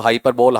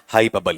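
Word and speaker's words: hyperbole: को पढ़ा रहा है उसे हाइपरबोल नहीं बोलना चाहिए। क्या बोलेगा आपका? हाइपबबल ही बोलेगा।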